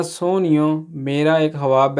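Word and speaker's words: sogno: आगे जी number 3 ईओ ना सोनियो, मेरा एक ख्वाब है, ठीक है। सोनियो बोलते हैं जी ख्वाब को, सुगुन नहीं पढ़ देना क्यों, ये जी है, ये साइलेंट है, ठीक है।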